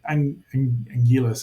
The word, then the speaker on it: Anguirus: They find one of the monsters, the Ankylosaurus, known as Anguirus. They have a lot of different pronunciations, but Anguillus is right there.